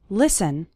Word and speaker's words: listen: to an English podcast the letter T is silent in the word listen listen listen to an English